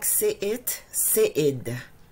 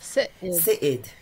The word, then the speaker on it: Séïde: Okay, it's like Séïde. Perfect. There's accents on the E and umlauts on the I, so that's how it's pronounced. Right. Séïde. Perfect, yes. Séïde.